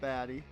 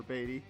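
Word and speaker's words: Baty: Uh because we're going to get rid of Brett Baddy or Batty. I keep wanting to say Baddy because it's spelled that way.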